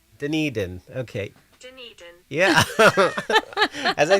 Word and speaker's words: Dunedin: Sounds like Dun. Yeah, you're right. Yeah, here. Dunedin. Dunedin.